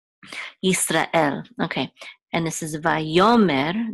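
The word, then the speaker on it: ישראל: B'nai, and then L, here's the last syllable of Yisrael is what is accented, Yisrael. It's not, in English, we accent the first syllable, we say Israel, but in Hebrew, it's Yisrael. There's also a guttural stop right after Ra and before El, because the Aleph is actually a guttural stop, Yisrael, okay.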